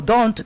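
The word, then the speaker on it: D'Hondt: Hunt. ¿Sabes qué? Es que se pronuncia DONT.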